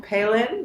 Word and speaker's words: Palin: his last name Michael Palin Michael if you think of Sarah Palin very different right it's so funny